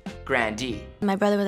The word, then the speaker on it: Grande: told ari that their last name should be pronounced grandi my brother was like we should say grande it's so fun to like say it's like